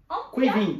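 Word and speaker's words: Caoimhín: So it's Quiveen.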